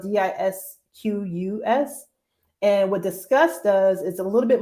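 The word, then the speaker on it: Disqus: is I signed up for a tool called discuss and that's spelled d-i-s-q-u-s and what disgust does is a little bit more of a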